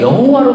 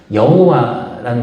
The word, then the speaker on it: 여호와: 이름 할 때 말씀드렸잖아요 여호와라는 말은 아도나이 주님이라는 말 거기에 요회 바회 밑에다가 아도나이 모음을 갖다 붙여 가지고 원래 자음만 있던 것에 나중에 읽을 수 없으니까 모음을 갖다 붙였을 때 그거를 발음이 여호와 이렇게 됐다는 얘기를 말씀드렸잖아요 예전에 그러니까